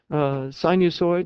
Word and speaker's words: sinusoid: Sinusoid is spelled S-I-N. Thank you. Sinus on oids. Okay, sinusoid. Sounds like a dinosaur.